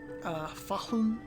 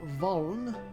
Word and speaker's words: Fahln: Fahlun is spelled Fahln. The Fahlun, or Valn, as the hillbillies on its western bank call it, is the third